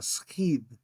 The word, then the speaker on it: σχιδ: You can do it sigma, kappa, iota, delta, skidh, or sigma, chi, iota, delta, schid.